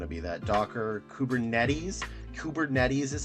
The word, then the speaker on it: Kubernetes: it's usually going to be that Docker kubernetes kubernetes is how it's said uh stuff where microser